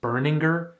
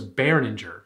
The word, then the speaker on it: Berninger: Also, did you know his last name is pronounced Burninger? I I for this whole time I thought it was Baroner.